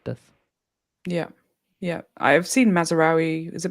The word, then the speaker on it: Mazraoui: Yeah, I've seen Mazraoui. Is it Mazraoui?